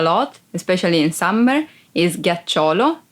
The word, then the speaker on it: ghiaccio: Ghiaccio. Ice. Ghiaccio. Ice. Be careful because if you don't pronounce G as a hard sound like G, it would be ghiaccio, that it's a verb and means lie down.